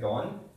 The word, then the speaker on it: don: The, maka don, this D is T-H-E, okay? Just imagine like that.